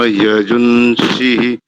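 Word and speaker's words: यजूंषि: का तृतीय शब्द देखिए यजू नहीं यजन यजन यज अण अण मूर्धन्य सकार से पूर्व जो ये ग्वांग है इस ग्वांग का उच्चारण नकार की भाति होगा लेकिन उच्चारण प्रतीत होगा आपको नकार के ना का उच्चारण करेंगे तो शुद्ध उच्चारण हो जाएगा य जून य जून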